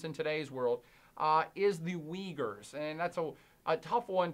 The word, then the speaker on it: Uyghur: today's world is the Uyghurs, and that's a tough one to say and spell because they don't look alike It's U-Y-G-H-U-R, Uyghur or pronounced like a W.